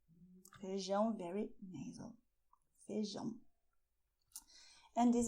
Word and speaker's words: feijão: So you have "ARROZ" "FEIJÃO". "FEIJÃO", very nasal, "FEIJÃO".